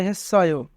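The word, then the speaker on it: 했어요: হেসায়ো, হেসায়ো অর্থ করেছেন। যদি বাচ্চিম থাকে এবং তারপরে ইয়ং থাকে তবে ইয়ংয়ের স্থানে বাচ্চিম যায়, তাই সাংসিয়ত বাচ্চিমটি ইয়ংয়ের স্থানে যাবে, তাই উচ্চারণ হবে হেসায়ো। হেসায়ো অর্থ করেছেন।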